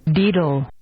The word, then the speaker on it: daedal: I found the pronunciation, and it is... Oh, no, this site doesn't work. Oh. Deedle.